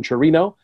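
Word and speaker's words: Chirinos: Robinson, is it Chirino? Chirino. Yeah, the S is silent. So Robinson Chirino.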